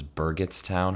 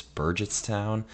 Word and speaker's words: Burgettstown: with me was actually take two I was pronouncing the town at Star Lake wrong I thought it was Burgettstown heart G it's Burgess town uh and oh yeah our Artisan residence had